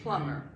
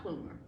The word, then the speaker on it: Plummer: Plummer, yeah, They landed and one in- M, but they always pronounced it Plummer, not Plumer.